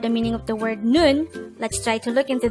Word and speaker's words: 눈: study about the word noon let's start learn korean one word at a time on here at day hangout word number 156 this is pronounced as a one-syllable word pronounce it with me